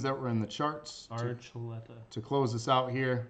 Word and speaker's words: Archuleta: So December 28th, David Articulation. Archuleta.